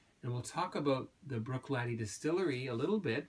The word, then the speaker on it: Bruichladdich: the correct pronunciation is Bruichladdich laddie like a young young man laddie a lad laddie okay Brooke like a